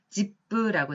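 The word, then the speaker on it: 実父: 집부라고 적혀져 있습니다. 한자로는 실부라고 쓰여져 있고 일본어로 읽었을 때는 집부라고 읽습니다만 이거는 실부, 다시 말해서 친아버지를 읽었습니다.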